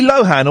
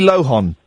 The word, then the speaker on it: Lohan: Can you sing Lindsay Lohan, or do you sing Lindsay Lo-horn?